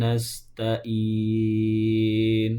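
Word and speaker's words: نستعين: Harus mengalir udaranya ketika membunyikan huruf sin. As wa iyaka nasta. Ain juga sama. Tadi juga sudah disinggung ain itu dari tengah tenggorokan bukan pangkal tenggorokan bukan.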